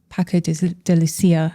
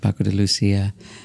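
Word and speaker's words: Paco de Lucía: So who would you say, I know Paco de Lucia, am I pronouncing that correctly?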